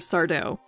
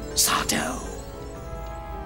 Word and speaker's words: Sardo: when i think of sardo they call me sato no mister accent on the dough vink i love ya